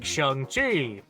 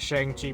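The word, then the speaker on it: Shang-Chi: you have something like shangi and yes that's actually how his name is pronounced I thought it was shangi myself for a long time and he's kind of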